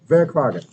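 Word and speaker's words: hvad er klokken: you say that clogging okay so very clogging that's how you say whether what time is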